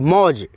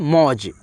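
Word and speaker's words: mauj: तो जे से ज अब देखो लास्ट वाला अक्षर में अ का ध्वनि नहीं होता है मौज मौज मौज मौज अगर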